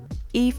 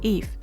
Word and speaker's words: Yves: Eve is pronounced and called in Hungle as Eve, just like the biblical Eve.